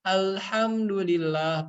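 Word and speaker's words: الحمد لله: Contohnya di Al-Fatihah, alhamdulillah pakai H kecil, jika benar maka artinya akan menjadi segala puji bagi Allah. Maka jika kita salah dalam membacanya, maka artinya akan menjadi salah. Alhamdulillah, kalau pakai H besar menjadi kematian bagi Allah Subhanahu wa Ta'ala.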